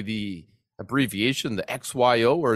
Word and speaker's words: XYO: say the abbreviation the xyo or is it like zo or Z call X yo because it stands for XY Oracle because it's a a location